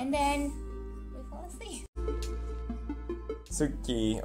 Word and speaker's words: Tsuki: Tsuki, or we pronounce it wrong, ski, means moon in Japanese, so it fits with pajamas already.